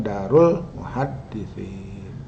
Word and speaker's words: Dar al-Muhaddisin: Nah, fiqhul muamalat fi suratil Baqarah, dar al-muhaddisin, jadi bacanya darul muhaddisin.